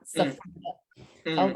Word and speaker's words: Safiyyah: And he told me I was pronouncing my name wrong. I was like, it's Safiyyah. Safiyyah. He was like, you're pronouncing it like the English way, like the correct Arabic pronunciation is Safiyyah, not Safiyyah.